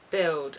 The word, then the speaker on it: build: Of course different people speak differently, but it often sounds like a W, milk. It says in Wikipedia this is especially the case when the final letter is L, but other words like build are also affected.